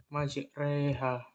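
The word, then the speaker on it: مجراها: Dan bunyinya terjadi antara fathah dan kasroh. Dan ini dinamakan dengan imalah kubro. Contohnya pada surat Hud ayat 41. Bismillahirrahmanirrahim. Wa qala al-kabura fiha bismillahi majreha wa mursaha. Nah, pelafalannya yaitu pada majreha.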